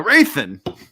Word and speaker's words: Rathan: Anyway, so Rathan with a silent H. Silent H. That's right.